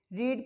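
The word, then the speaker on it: read: रीड की second form भी क्या होती है? उसको स्पेलिंग वही होती है लेकिन इसको रेड पढ़ते हैं।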